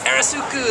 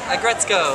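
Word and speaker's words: Aggretsuko: I love Arisuku. That's how you say it, right? The Sanrio metal character. I like her. Agretzko? Agretzko.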